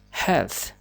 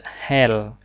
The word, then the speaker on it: health: Health. Health. You can't pronounce hell. The word hell is another word, but this hell and hell and but a little bit sound.